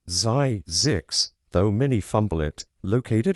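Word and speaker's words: Zzyzx: Yes, that's a real place pronounced Zyzix, though many fumble it.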